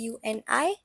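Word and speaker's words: Juni: the spelling is j u n i and it is it again J again has a y sound in it so it's pronounced as uni then we have July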